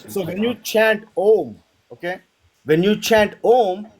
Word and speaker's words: Om: So Om is said like this. Ah, oo, right?